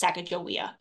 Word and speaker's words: Sacajawea: So here in Salmon, Idaho, the Sacajawea Center uses the traditional Shoshone spelling, spelled with a J and pronounced Sacajawea.